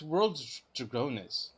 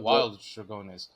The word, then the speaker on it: World Dragonus: no, he, wait, no, it's World Dragonus. yeah, It's not Wild Dragonus. No, there's no wordplay on that because the thing is that it still has the same W sound at the beginning, yes, but World Wild King yes, has the I sound, yes, so it's Wild King.